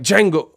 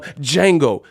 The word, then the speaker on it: Django: I'm Django. The D is silent.